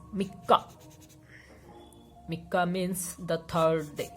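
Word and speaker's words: 三日: If you are writing these together, they would be pronounced as mikka.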